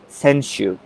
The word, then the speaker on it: senshu: this rule is called senshu although some referees call it senshui the correct pronunciation is senshu so what does it